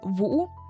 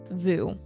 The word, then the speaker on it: Vũ: his name, which is Vũ. And by the way, it took me a while to be able to say his name correctly in Vietnamese because in America, we just call him Vu.